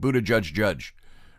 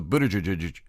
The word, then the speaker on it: Buttigieg: Buttigieg, I want to keep saying Chegg. It's Jeg. They said you pronounce it Buttigieg. Really fast, so Buttigieg.